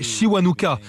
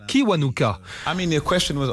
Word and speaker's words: Kiwanuka: D'ailleurs, on devrait le prononcer Kiwanuka. Avec ma famille, nous nous sommes installés en Angleterre depuis que j'ai 2 ans et là-bas, ça se prononce Kiwanuka.